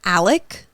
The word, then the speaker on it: Alex: the dad also confusing his name is Alec but it's spelled a-l-e-x and in the documentary people some people call him Alec then like some people